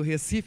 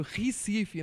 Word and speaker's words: Recife: pernambucano da Madalena, do Recife, aliás, como diz meu sogro, Recife, não Recife, né? Vamos pronunciar corretamente.